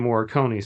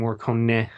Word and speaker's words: Morricone: it with is it sounds like an Ennio Morricone score. Excuse me, Morricone. I looked up, I made sure to listen to the pronunciation so it wouldn't sound like an idiot.